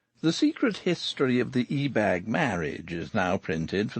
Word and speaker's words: Ebag: secret history of the e-bag marriage is now printed for the first time the ebag family who prefer their name to be accented on the first syllable once almost ruled old